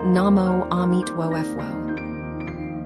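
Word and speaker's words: Namo Amituofo: Namo emituo pronounced namo amit wo.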